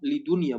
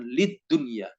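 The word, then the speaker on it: لدنيا: Lidunia, bukan lid dunia, tidak ditasdidkan.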